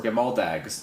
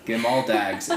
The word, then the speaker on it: Gamaldags: for her daughter, and the sweater is called Gamaldags, or Gamaldags, not dogs. I love dogs, they're in my head. Gamaldags.